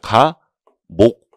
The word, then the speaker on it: 가목: 요런 건 뭐라고 읽냐면 가, 목, 나, 목 이렇게 읽어요. 그래서 118조 뭐 1호 그리고 이렇게 돼 있으면 가목 이런 식으로 읽게 되고, 당연히 시험에는 안 나오고요.